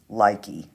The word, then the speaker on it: Lykke: I have this beautiful set of needles, and I pronounce this Lykke, L-Y-K-K-E.